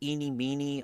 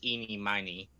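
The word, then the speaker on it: Ini Miney: eenie it's really weird Some people prefer pronounce it Eenie Meenie others say eenie miny it's basically a you know there's also there's there's also iy oh I didn't know iy I just thought it was yeah I could I can think of like seven different ways to pronounce that the correct pronunciation is eenie miny I've never liked that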